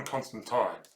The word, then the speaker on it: Constantine: And also, you were pronouncing it the American way where he's British. It's John Constantine.